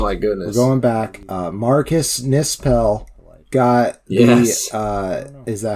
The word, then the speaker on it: Marcus Nispel: Marcus Nispel got yes.